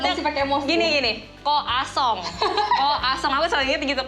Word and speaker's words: croissant: Kalau di sini boleh kita ngomongnya croissant, tapi kalau kalian berkunjung ke sana jangan salah sebut. Gimana caranya? Koasong. Tuh. Ingat ya? Masih pakai emosi. Gini. Koasong.